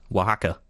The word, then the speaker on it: Oaxaca: How do you pronounce it again, Matt? Oaxaca.